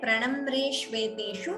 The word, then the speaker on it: प्रणम्रेष्वेतेषु: Here, pranamreshveteshu, all of you please remember, it is a hrasva, a short vowel. So we should pronounce it as a short vowel and not prolong it.